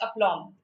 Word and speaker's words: aplomb: The B is silent in aplomb. It's aplomb, right?